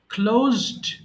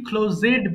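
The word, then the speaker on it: closed: ক্লোজড এটা মাঝে মধ্যে আমরা কি বলে ফেলি ক্লোজেড বলে ফেলি এটা কিন্তু উচ্চারণ হবে ক্লোজড ইয়েস এরপর নেক্সট ওয়ান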